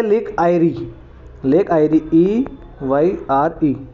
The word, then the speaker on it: Eyre: तो लेक आयरी, वो लोग लेक ईरी थी, याद रखना। जो 5 ग्रेट लेक्स थी यूएसए वाली, वो लेक ईरी है, ये लेक आयरी है, EYRE।